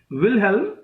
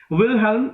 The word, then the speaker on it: Wilhelm: गेथे is world famous novel, विल्हेम, WILHELM, विलहेल्म. जिसको spelling problem है वो मेरे ब्लॉग पे चले जाइए.